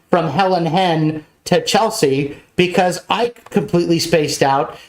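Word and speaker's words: Chelsai: which is c-h-e-l-s-a-i so a lot of people mispronounce it as chelseai but it's actually Chelsea so there you go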